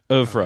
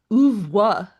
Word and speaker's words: oeuvre: says that the R is pronounced, so I'm gonna trust it. Oeuvre Okay.